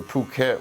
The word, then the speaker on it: Phuket: all the little Islands so we went to Phuket which is actually spelled like effort yeah without having to say the